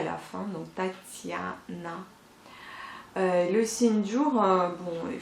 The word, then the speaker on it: Tatiana: exemple le prénom Tatiana, vous voyez bien que la lettre T s'adoucit aux deuxième lettre T. La première lettre elle est bien dure, donc ta, et la deuxième, donc sur la deuxième syllabe, vous voyez le signe mou, donc ti. C'est grâce à ce signe que le T devient ti, Tatiana.